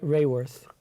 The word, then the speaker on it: Raworth: How do you pronounce it? Raworth. Kate Raworth.